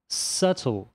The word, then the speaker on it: subtle: E nessa aqui, o B é silencioso. Subtle. Então é por isso que